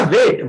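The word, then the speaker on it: weight: इसमें जी और H silent होता है,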